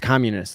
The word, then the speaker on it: Communis: It's pronounced communist, like community.